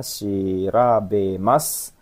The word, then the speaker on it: 調べます: Ini kanji bacanya shirabemas.